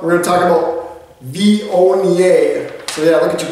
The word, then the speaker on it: Viognier: That's how you say it. Viognier. Yeah, look at how it's spelled.